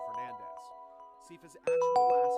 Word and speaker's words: Belnades: heritage was as a Belnades. However, according to the Japanese versions of the game, as well as Castlevania 64, the name is pronounced closer to Fernandez.